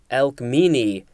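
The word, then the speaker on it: Alcmene: pictures which was very cool next we have elk meanie capital a l c m e n e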